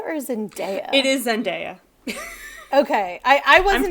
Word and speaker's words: Zendaya: And somebody in the comments was like, hey, you look just like Zendaya.